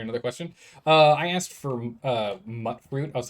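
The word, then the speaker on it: Mutfruit: All right, I will try my best to remember it's called mutt fruit. But it was a thing in Fallout New Vegas as well, and I always just pronounced it mute fruit. Mutt fruit it is.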